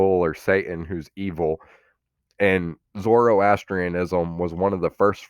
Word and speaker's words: Zoroastrianism: So the Z word here is pronounced Zoroastrianism.